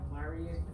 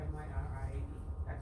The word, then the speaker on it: Myriad: What is Marion Pro? That's how you pronounce it. M-Y-R-I-A-D.